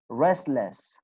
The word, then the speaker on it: restless: Restless, restless, restless. Okay? We do not pronounce te sound. Why? Because it is between 2 consonant sounds.